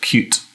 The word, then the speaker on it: Qt: Well, I think it's pronounced Qt.